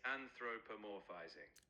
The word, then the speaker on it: anthropomorphizing: How do you say that word, Charlie? You're almost there. It's anthropomorphizing.